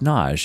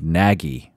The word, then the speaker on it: Nagy: Nagy Nagy is pronounced nage it is it is spelled na Gy like like naggy Nagi but it's pronounced nage I've had many patron